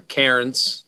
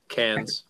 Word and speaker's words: Cairns: I'm in Cairns at the moment, actually, or Cairns for those who might pronounce it in the typical English language, but Cairns for anybody who understands Cool.